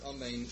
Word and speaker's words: amen: must be careful to pronounce the word amen correctly not to pronounce the letter aleph hastily nor leave the letter nun unpronounced we should likewise be